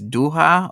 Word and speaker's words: Doha: searched it Jason X says uh oh it's duha okay my apologies mango smoothie thanks for the correction duha I've been pronouncing around this entire time yeah it's still